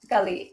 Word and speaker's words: Galit: Is that how you pronounce it, Galit? Galit, yes.